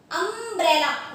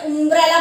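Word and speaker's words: umbrella: अब आप अम्ब्रेला बोले तो आ गया, अब आप इसको गलत प्रोनाउंसिएशन देंगे, जैसे उम्ब्रेला बोल दिया आपने, यूम्ब्रेला बोल दिया, यू साउंड ये भी होता है, आप बोले यूम्ब्रेला, तो दैट इज तो रॉन्ग, फिर तो आप कभी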